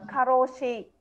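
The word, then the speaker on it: 過労死: Nên ở bên Nhật nó có cái cụm từ caro này cộng thêm chữ tử nữa, đọc là karoshi.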